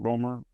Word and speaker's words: Romer: Is that how you pronounce it, Romer?